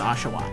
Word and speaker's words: Oshawott: grass type Snivy and then the water type ashaw or as I like to call it oat um but it is actually pronounced ashaw sort of interesting um I'm going to pick